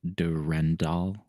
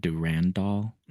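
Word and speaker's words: Durendal: Yeah, that's the French way of spelling it because they pronounce it Durandal instead of Durandall.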